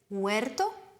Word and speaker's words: huerto: Notez bien que le H en espagnol est une lettre muette. On ne le prononcera pas. El huerto.